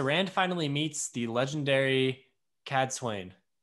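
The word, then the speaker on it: Cadsuane: rand uh so rand finally meets the legendary cad swain right that that is how you say her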